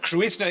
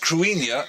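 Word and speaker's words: Cruithne: news as of fact krutha is pronounced crinia and it's actually Celtic and its orbit was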